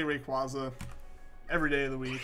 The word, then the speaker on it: Rayquaza: That's kind of what I figure, like, with the pronunciation of Quasar. But I don't know, I always just say Rayquaza.